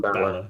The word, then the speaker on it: Balor: Balor, yeah.